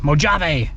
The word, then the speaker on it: Mojave: So, with that being said, I think it's time that we go and pop into the Mojave, or as someone from Utah would say, Mojave.